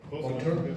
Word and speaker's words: Monture: Am I pronouncing that right? Monture?